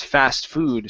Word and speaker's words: fast food: Okay, so we stress the second word. Instead of saying fast food, it's fast food.